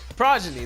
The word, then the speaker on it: progeny: Progeny, that's the word. I don't think I pronounced it right when I first said that. It's progeny.